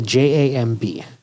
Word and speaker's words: jamb: It's a JAMB, right? So it's not jam like jam out, it's like jamb. But the B is somewhat silent, or maybe I'm just saying it wrong.